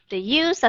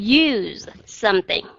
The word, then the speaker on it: use: cái từ use đó nếu nó là verb thì chúng ta sẽ đọc là to use something thì các bạn thấy cái chữ use nó sẽ kéo dài hơn và cái ending sound của nó là z chứ không phải là s nghe hai cách nha